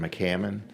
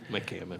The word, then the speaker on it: McCammon: This time, the chair calls up McMone. Mammon. Good morning. I apologize for your pronunciation. Good morning, Mr. Chairman and members of the committee. My name is McCammon. McCammon.